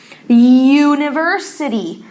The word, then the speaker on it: university: Você pronuncia ele igual com o zinho, university também pronuncia ele com o zinho.